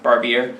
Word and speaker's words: Barbieri: How do you say his name? Barbieri. It is Barbieri.